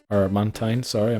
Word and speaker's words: Mantine: Then we have time is already used unfortunately on mantime or mantine. Sorry, I mispronounced it there.